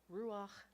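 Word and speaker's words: רוח: So it's ru, and then instead of cha, it's ach, because we have the patak underneath the hay, the chet. So it's ach, ru ach. Yes, because it's at the end, yes. Yep, it changes it to an ach rather than a cha.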